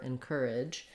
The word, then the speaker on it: encourage: This letter A is going to be the I sound, a reduced vowel, and then we have the j sound at the end.